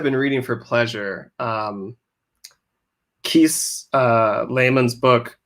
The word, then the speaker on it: Laymon: Keith Lehman's book, How to Slowly Kill Yourself and Everyone, and I'm getting the title wrong.